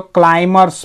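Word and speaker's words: climb: लेकिन अगर किसी वर्ड के अंत में MB एक साथ हो, उसके बाद शब्द खत्म हो जा रहा है, कोई दूसरा लेटर नहीं है, तो वहां पे बी साइलेंस हो जाएगा।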